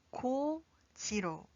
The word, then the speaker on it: 곧이: ‘곧이’ is pronounced as .